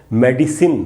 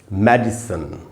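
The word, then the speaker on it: medicine: एक ट्रांसक्रिप्शन ये है ये जो पहला वाला ट्रांसक्रिप्शन है इसके हिसाब से इस ट्रांसक्रिप्शन के हिसाब से इसका एक उच्चारण है मेडिसिन मेडिसिन मेडिसिन नहीं बोलेंगे और ये जो दूसरा ट्रांसक्रिप्शन है इसके हिसाब से इसको हम पढ़ेंगे मेडिसिन मेडिसन यानी दो उच्चारण हुए। एक मेडिसिन और एक मेडिसन।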